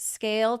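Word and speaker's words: Scayle: So visit scale today. That's s c a y l e. Yes, the y is silent.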